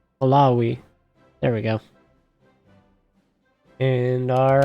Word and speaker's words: Malawi: We've already captured Mali or uh Maliway. How do you say that? Malawi.